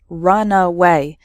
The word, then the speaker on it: runaway: before taking off so the first word has three syllables run away and the second word has just two syllables Runway completely different meanings